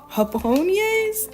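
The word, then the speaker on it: japonés: But I believe these are called hapon. I don't know. I know the J in Spanish is pronounced um like H in the English language.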